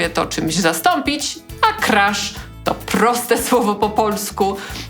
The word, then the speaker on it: crash: literą i jednym dźwiękiem Crash zapisujemy Taa wymawiamy przez te samogłoskę między polskim a e i Jego podstawowym znaczeniem